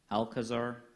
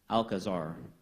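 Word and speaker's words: alcazar: go right into it alkazar that is an alternate pronunciation yes alkazar a l c a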